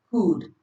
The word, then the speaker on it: could: L is silent before words, especially before D or F. Examples: could, should, calf, have. So you see that the L is very silent in these cases.